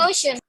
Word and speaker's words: ocean: আর এখানে আমরা ওশান বলি, এটা হবে ঔষণ, ঔষণ। সবাই আমার সাথে বলো, ঔষণ, ঔষণ, Ocean. ঔষণ।